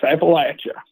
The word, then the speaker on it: Appalachia: Yes, Appalachia.